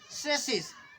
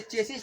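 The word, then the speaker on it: chassis: लेकिन इतना प्रचलित हो गया है, क्योंकि हम हिंदुस्तानी हैं, तो ये चेसिस तो लिखा ही है, लेकिन शुद्ध साउंड है इसका सेसिस, इसलिए सेसिस उच्चारण करेंगे इसका।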